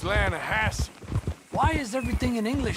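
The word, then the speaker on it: Lannahassee: The Lanahatchee. It runs right near here. Yeah, but it's pronounced Lanahassee.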